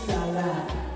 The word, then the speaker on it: salad: In Nigeria we say salad.